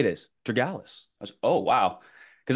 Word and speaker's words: Tregellas: The way that I would pronounce his last name is Tregellas. But many people will say Tregellas, right? I think that's how a lot of people pronounce it. But if we're going to say it the right way, it's Tregellas.